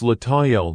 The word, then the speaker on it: Lataniel: It's Lataniel, not L.